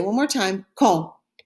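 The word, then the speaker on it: quand: for when in spanish in french though it's pronounced say one more time ko ko the next one is at what time what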